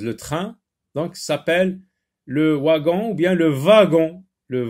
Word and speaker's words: wagon: Donc, s'appelle le wagon ou bien le wagon. Le wagon. W ici se lit v, wagon. On dit un wagon-lit, wagon. Et ça peut se lire aussi wagon.